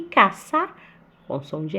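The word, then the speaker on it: caza: E caça com som de S também.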